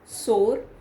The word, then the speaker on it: sour: Next is SORE सोर, और SOUR, इसको भी कई लोग सोर बोल देते हैं, which is the wrong pronunciation, it should be सार। SOUR सार, दैट मीन्स खट्टा।